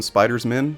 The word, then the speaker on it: Spiders-Men: Today we'll focus on the 2 most well-known Spiders-Men, Miles Morales and Peter Parker. And yes, that's how it's said. Spiders-Men. It's like attorneys general.